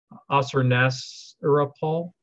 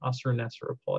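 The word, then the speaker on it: Ashurnasirpal: period under the Neo-Assyrian Empire, under the king Assur-nasir-apal. I always get hung up on that one. Assur-nasir-apal, I think is how you say it.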